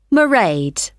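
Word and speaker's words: Mairead: do you spell that it's m a i r e a d marade okay got that it's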